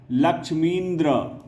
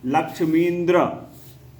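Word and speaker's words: लक्ष्मीन्द्र: बाद व क्या होगा लक्ष्मींद्र उच्चारण भी बदल जाएगा लक्ष्मी प्लस इंद्र कहते हैं हम लोग लेकिन जैसे ही संधि होगा तो हम लोग क्या बोलेंगे उसको लक्ष्मींद्र अगला देखें परी प्लस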